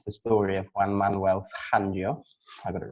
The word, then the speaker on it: Fangio: I also watched Life of Speed, the story of Juan Manuel Fangio. I got it right. But yeah, I like that pronunciation there.